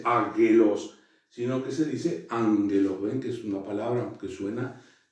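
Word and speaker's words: ἄγγελος: delante de una xi, siempre se pronuncia como una N. Por ejemplo, la palabra, esta palabra, que habíamos visto la clase pasada, águelos, se pronuncia ángelos, es decir, esta gama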